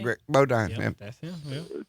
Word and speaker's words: Bodine: Greg Bodine.